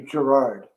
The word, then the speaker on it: Girouard: know oh okay in the french yeah it's pronounced it's it's actually gerard gerard oh can you right okay so i'm